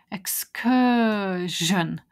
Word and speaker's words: excursion: it is Excursion and notice again I've got a video about the Jean sounds looks like seon but the sound is Jean Excursion all of those words like diversion follow the same pattern so then then I